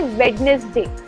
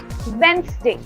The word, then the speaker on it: Wednesday: In reality, जब आप Wednesday बोल रहे हो, the D is supposed to be silent. There's no D sound coming. So it will not be Wednesday, बल्कि वो होगा Wednesday.